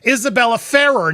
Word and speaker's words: Isabella Ferrer: Look, I learned how to say this girl's name, Isabella Ferrer.